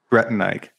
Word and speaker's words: Bretannike: Like, you said it already, but the way I pronounce it is Bretannike. Bretannike.